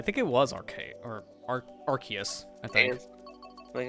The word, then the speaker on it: Arceus: call wrong it's like it's Arceus it's not archaeus I always call them Arceus now what does Nintendo actually want people to call that I think it was arcade or Arceus I think I think